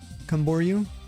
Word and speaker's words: Camboriú: And then the second part is called Camboriú. Okay, Camboriú, got you.